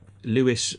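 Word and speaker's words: Lewes: case was held in Lewis um Lewis spelled l e w s l you know down near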